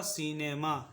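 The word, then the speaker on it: cinema: क्या है आई है, तो यहाँ पे सी का उच्चारण होगा स, सी का उच्चारण होगा स। ठीक है, और आई का उच्चारण होगा छोटी ई, आई का उच्चारण होगा छोटी ई, एन का उच्चारण होगा न, ई का उच्चारण होगा ए, एम का उच्चारण होगा म, और ए का उच्चारण यहाँ पे होगा आ, तो ये हो जाएगा सिनेमा। इसको हम लोग पढ़ेंगे सिनेमा, ठीक है।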